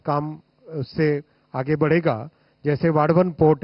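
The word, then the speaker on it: वाढवण: जैसे वाडवन पोर्ट है डाहणू के पास में महाराष्ट्र में, इसको वदावन मत बोलिएगा ना, वाडवन है इसका करेक्ट नेम। महाराष्ट्र में काम कर रहा हूं ना तो मुझे करेक्ट प्रोनाउंसिएशन इसका मिला वहां, वाडवन पोर्ट।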